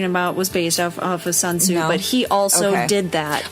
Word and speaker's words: Sun Tzu: Okay, yeah, ask me to pronounce that. Sun Tzu.